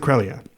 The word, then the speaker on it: Creglia: But you're supposed to pronounce it Crelia. Okay. So his Instagram handle is the G is silent.